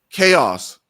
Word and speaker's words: Tchaos: All right, so Chaos, the T is silent, man.